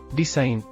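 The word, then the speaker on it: design: silent letter P pneumonia ಡಿಸೈನ್ ವಿನ್ಯಾಸ silent letter G ಡಿಸೈನ್ ಇದು ಇಂಗ್ಲಿಷ್ನಲ್ಲಿ ಸೆಲ್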